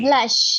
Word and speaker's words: blush: Oke, ini blush ya. Blush. Jadi seperti ada A ya. Blush. Diganti ya.